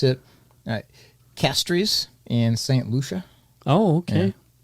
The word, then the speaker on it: Castries: I don't know how they pronounce it I pronounce it Castries in St Lucia oh okay so I I pronounce it Castries okay yeah which I'm sure is exactly how